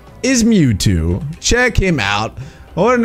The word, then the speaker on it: Mewtwo: But his name rhymes with Snewtwo. His name is Mewtwo.